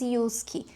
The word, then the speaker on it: JYSK: indo indico a Yusk, se escreve JISK, mas se traduz Yusk é uma rede de lojas ali dos países baixos que tem aqui na Itália, provavelmente tem na Europa toda.